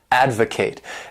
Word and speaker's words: advocate: verb is to advocate this word has 3 syllables and the stress is on that first syllable advocate and to advocate means